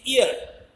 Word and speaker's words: ear: In examples, you can see ear. R is not pronounced because R is not followed by a vowel sound.